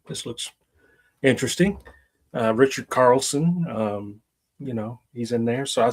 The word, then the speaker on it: Richard Carlson: I really liked Richard Carlson. Did I say his name right? You did. Richard Carlson and the lady that played his wife.